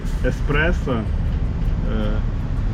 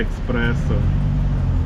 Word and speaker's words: еспресо: наприклад напевно моя мама вона не завжди правильно вимовляє Еспресо каже Експрессо це чину чину ну це нормально ну типу